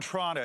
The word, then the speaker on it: Toronto: So I grew up in Toronto, and if you're from Toronto, that's how it's pronounced.